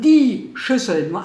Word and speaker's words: Schüsseln: in den Schrank suche die Schüssel nur eine suche ich weil der das n nicht ausgesprochen hat also für euch meine Lieben die Schüssel im Plural die Schüsseln Schüss die Mehrzahl davon